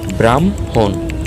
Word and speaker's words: ব্রাহ্মণ: উদাহরণ দেখলে বোঝা যায় ব্রাহ্মণ। এর উচ্চারণ হবে ব্রাহ্মণ। ব্রাহ্ম এর উচ্চারণ হবে ব্রাহমহি। ব্রাহ্ম এর উচ্চারণ হবে ব্রাহ্ম। অর্থাৎ ম বর্ণটি আগে হ বর্ণটি পরে।